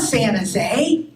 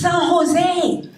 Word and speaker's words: San Jose: that everyone pronounces wrong it's not Las gas it's Los Gatos it's not Santa it's San Jose it's not Hayward it's